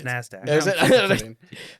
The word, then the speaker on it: NASDAQ: Securities dealers automated quotations I think it's pronounced nzd do no it's NASDAQ but Jesus guys a tad ver Bose thank you um that's why everybody just calls it NASDAQ I didn't even know